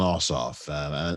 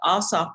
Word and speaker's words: Ossoff: one of course between david perdue and john ossoff and am i pronouncing his name right i always get his